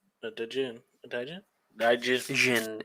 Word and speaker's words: jinn: Jinn. It is pronounced Jinn.